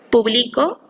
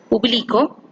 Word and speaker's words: publico: En la primera palabra, publico, la sílaba tónica es pli y le da una diferenciación, pues es el verbo en primera persona, tiempo presente, modo indicativo del verbo publicar.